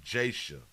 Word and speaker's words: J'Asiah: reportedly kidnapped at the Ashish Mitchell is spelled j hyphen thing that thing about a s i a h so they pronouncing it Jason got it it's been